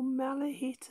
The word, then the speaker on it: Malachite: may have seen these on eBay, the malachite or malahite, as somebody some of them pronounce it, SDR.